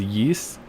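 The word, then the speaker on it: Ys: is so long already I have the Y's series or somewhere some people pronounce it as yeast I have a couple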